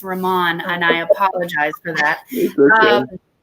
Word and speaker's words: Raman: We're saying your name wrong. It's Raman, and I apologize for that.